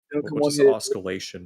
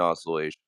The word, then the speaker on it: oscillation: to argue with oscalation mean what does oscalation mean? Seriously book reader doesn't know how you pronounce it when it's going yeah the the C is silent in oscillation.